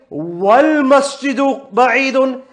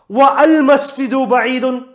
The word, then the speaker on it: والمسجد بعيد: Why did I say that? Why couldn't I say wa al masjidu ba'idun? Because the hamza is hamzatul wasl. Yeah? Therefore, it hasn't come at the beginning, so I don't pronounce it.